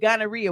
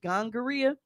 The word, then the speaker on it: gonorrhea: didn't even know what gonorrhea was exactly or how to say it because my granny used to call it gangria so I thought it